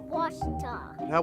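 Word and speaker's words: Ouachita: pronounces it witch but really it's was was was how would you pronounce it was was it's was Baptist University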